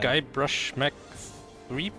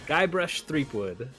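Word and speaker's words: Guybrush Threepwood: guy brush Mech three you threw an extra syllable in the middle there Mech what I love that you literally didn't know which syllable was wrong which one is it just wait for one of the middle ones guy brush threepwood oh there's no Mech no Mech I don't know where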